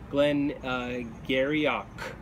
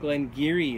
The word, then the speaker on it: Glen Garioch: perspective this looks like Glenn uh garok or Glenn Gario uh but in fact Glen giri is the correct pronunciation and this um this is from the Doric dialect of um uh of